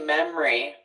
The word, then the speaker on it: memory: And then memory. Do we hear it any other way? I say memory. 2 syllables.